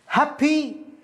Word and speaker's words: happy: happy happy مع خروج الهواء من الفم، happy وليست happy، happy واحد يقول أنا